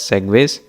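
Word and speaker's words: segue: So this is pronounced as segways.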